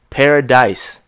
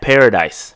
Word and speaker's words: Paradis: a Heinicke Matt Paradis paradise Matt paradise Paradis its Paradis I know I